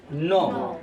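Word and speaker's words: know: टू नो इसको देखो कनाव नहीं पढ़ते हैं कन नहीं पढ़ना जब के बले एन साइलेंट होता है उसे के खत्म हो जाता है ठीक है के बोले एन तो के साइलेंट तो इसको पढ़ते हैं न टू न और टू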